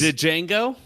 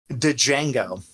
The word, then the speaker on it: Django: He's Django? Django. The D is silent.